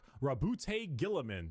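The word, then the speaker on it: Roboute Guilliman: Rabbout Gillaman. That's how Yeah, that's how it's said.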